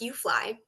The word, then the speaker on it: UFLI: Lane is the director of the University of Florida Literacy Institute, UFLI, pronounced UFLI, and an associate professor of special education.